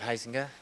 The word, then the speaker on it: Huizenga: My name is Heisinga. That's spelled Huizenga. May I proceed, Your Honor? Please. Thank you. Morning, Dr. Heisinga.